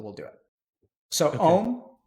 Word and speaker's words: Om: Om is composed of 3 syllables, ah, oo, and Okay.